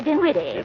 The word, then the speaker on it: Dinwiddie: Henrietta Dinwiddie. With an N, not an M. And the accent on the witty, not on the din.